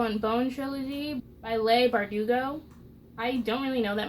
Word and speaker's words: Bardugo: and bone trilogy um first of all its Leigh bardugo not Leigh bardugo four years ago me didn't know how to pronounce names but yeah bleep are do go I know that now and